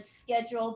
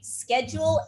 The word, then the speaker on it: schedule: Schedule and schedule. That's probably what you've heard. Two pronunciations for the same word. Schedule is American. Schedule is British.